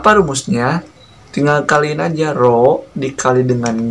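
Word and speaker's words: ρ: Nah, ini tuh dibacanya adalah rho ya.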